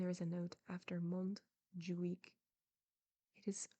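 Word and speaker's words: Montjuich: the West and there is a note after Mont ju week it is spelled m o n t J u i c h and it says the castle of monju week which overlooks Barcelona there you go when he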